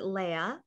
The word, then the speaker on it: Leah: well, Leah, I pronounce it Leia.